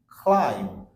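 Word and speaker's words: climb: sound দিয়ে দিয়েছি যেরকম খ ল আই ন ক্লাইম্ব ক্লাইম্ব another words is থাম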